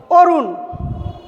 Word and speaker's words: অরুণ: বলবো, অর্ধমাত্রা ন দিয়ে অরুণ। অরুণ লিখতে যদি আমরা মূর্ধন্য দিয়ে লিখি অরুণ, অরুণ বানান আমরা মূর্ধন্য দিয়ে লিখি, কিন্তু এর উচ্চারণ হবে দন্ত নয়ের মতো, তখন আমরা উচ্চারণে দন্ত ন লিখব।